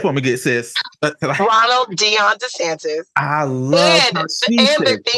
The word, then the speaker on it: Dion: Ronald say it for me good sis Ronald Deon de Sanz I love and the thing the crazy part is it's spelled Dio n and there is another illustrious